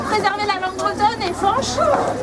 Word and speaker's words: Fañch: la langue bretonne et Fanche. Il a besoin de son tilde puisque Fanche en breton c'est avec tilde qu'on puisse se prononcer comme il se doit.